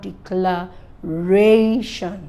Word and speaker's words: declaration: taught to say it words that end with t-i-o-n-s-i-o-n-i-c three letter words for letter words are stressed on the penultimate so I have declared ration that's penultimate syllable all